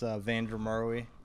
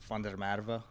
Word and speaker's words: Van der Merwe: name yeah so uh in English it's vuru um been off conso I'm from South Africa um it is fer MVA so I guess the the proper pronunciation might be fer MVA I don't know or Vander murva Vander I like that